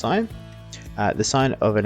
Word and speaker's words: sine: we do know that the sine of an angle is not sin it's pronounced sine uh the sine of